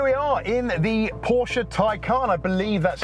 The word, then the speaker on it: Taycan: ev made by porsche pronounced something like tycoon anyway i believe it's